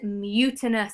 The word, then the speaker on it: mutinous: The word is mutinous. It's an adjective. It has 3 syllables, mute in us, and it means when you refuse to obey the orders of someone.